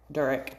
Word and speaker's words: Durek: Durek is how you say it.